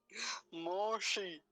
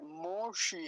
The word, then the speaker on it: मोषि: आनी चाहिए यहाँ पे, मोशी है। पहली बात तो दो मात्रा में नहीं है, एक मात्रा है, पहली काम की बात।